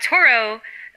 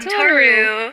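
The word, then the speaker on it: Tohru: But you have Toro. I keep saying her name wrong. Toru. Toru.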